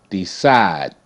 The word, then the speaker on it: decide: Decide. D, E, D, S, I, side, side, decide, decide. D, E, S, I, D. E is silent. E makes no sound.